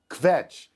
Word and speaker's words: kvetch: It's a really nice job you making kvetch into a 2-syllable word.